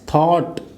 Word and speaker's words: thought: थॉट नहीं है ना, तो थाट है, इट्स थॉट। ये UGH साइलेंट है।